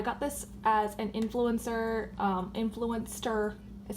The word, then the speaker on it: Influenster: Mercier powder I got this as an influencer Influenster is how you pronounce their name like a little it's like